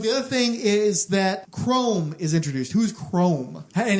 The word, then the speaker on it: Khrome: But the other thing is that Chrome is introduced. Who's Chrome? And it's spelled Khrome. Oh, Khrome.